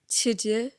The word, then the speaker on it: Teuxdeux: It's yeah, literally it's spelled Teuxdeux, so it's like to do.